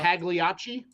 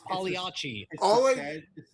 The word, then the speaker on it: Pagliacci: That's not how you. Pagliacci. Pagliacci. Pagliacci. Okay. Pagliacci. You got to roll your Pagliacci.